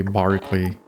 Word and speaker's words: Berkeley: British E can be pronounced like Derby, Berkeley, Barkley.